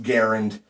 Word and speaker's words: Garand: I've been saying Garand since I was a little kid, even though the man who invented this, his name is pronounced Garand. I've been saying Garand all my life, and I am never going to stop.